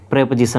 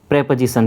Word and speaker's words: preposition: ये क्या हो गया, प्रेपोजिशन हो गया, है ना। क्या बोल रहा हूँ मैं, प्रेपोजिशन, ध्यान रखना है, प्रीपोजिशन नहीं बोलना है इसको, नहीं तो आपको कभी